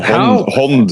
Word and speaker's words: Hand: But the Hond is how you say it in Norwegian. Hond Bryggeriet.